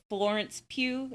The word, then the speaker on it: Florence Pugh: All right, my comments of the week were from the Florence Pugh story.